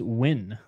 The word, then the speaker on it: Nguyen: locking it in uh Nguyen is pronounced when well you know what